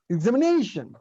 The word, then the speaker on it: examination: All the 5 syllables are equally stressed in Tamil. ஆனா இங்கிலீஷ்ல the pronunciation is examination.